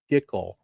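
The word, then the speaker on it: GCUL: I'm going to call it gickle rhymes with tickle.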